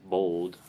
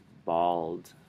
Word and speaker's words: bald: So you're saying it bold, like B-O-L-D. It's bald. This one like or like o. Bald. Bald. Bald. Bald. Yeah. And it's probably a little bit less of a T sound and more of a D.